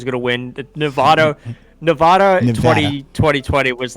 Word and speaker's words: Nevada: the way the locals i live in vegas it's nevada they're very particular about it yeah i'm from vermont originally my original pronunciation was nevada as well because nevada sounds southern but it is it's